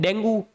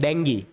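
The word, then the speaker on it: Dengue: आपको पता है डेंगू अगर आपको बीमारी हो जाए, जिसको अपन बोलते हैं डेंगी, सही प्रोनाउंसिएशन उसका क्या है, डेंगी।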